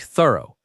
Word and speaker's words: thorough: It sounds like thorough. Two syllables and the ending is soft, not a hard f sound.